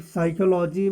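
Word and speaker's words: psychology: इसमें साइकोलॉजी में P silent है।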